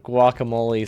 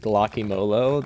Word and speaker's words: guacamole: I know they, instead of guacamole, someone said guacamolo.